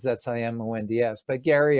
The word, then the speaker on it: Simonds: I always say Simons because it's spelt more like Simons. That's Simonds, but Gary R.